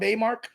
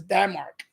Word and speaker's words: Damark: You ever heard of the mail order catalog Daymark? Or I don't know if I pronounce it Daymark, but it's Damark. DAMARK, Damark.